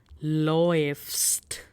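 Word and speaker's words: läufst: So A umlaut U will be OE. We have L in front of it, Loe, and then F, and then ST. Loefst.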